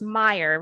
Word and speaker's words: Meyer: Now, his last name's pronounced Meyer, right? That's correct. Okay. I was just, the A confused me a little bit. I wanted to make sure I got that right.